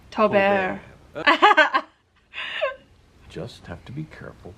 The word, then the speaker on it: Tobert: Oh, so you do pronounce the final T. It's not like a French cheese. Tobert.